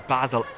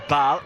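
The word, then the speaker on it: Basel: as well the 32-year-old plays for Basil or Bal however you pronounce both technically correct this debate has been raining for many years ball slipped through by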